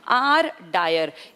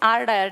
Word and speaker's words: Dyer: ही उसका नाम है, आर डायर। इसके डायर की स्पेलिंग देखना, DYER, वो DWYER, दोनों बोलने में एक जैसे हैं डायर, लेकिन वो माइकल ओ डायर है, ये आर डायर है।